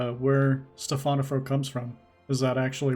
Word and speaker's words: Stephanafro: mispronounce it at first Yeah. as Stefan when Right. actually it's Stephanafro.